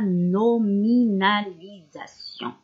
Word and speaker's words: nominalisation: 5e année وهو la nominalisation. Nominalisation هنا le S نقولو Z parce qu'il est entre deux voyelles. Le S quand il est entre deux voyelles نقولوه ننطقه Z.